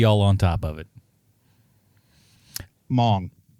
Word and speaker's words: Hmong: Hmong. Spelled with an H. The H is white silent.